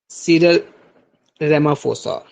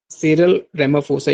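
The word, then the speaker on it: Cyril Ramaphosa: याद रखेंगे, इनके करंट प्रेसिडेंट भी वही हैं, सिरिल रामाफोसा। ठीक है, सिरिल रामाफोसा यहाँ के प्रेसिडेंट है। 2024 में इन्होंने चार्ज लिया था।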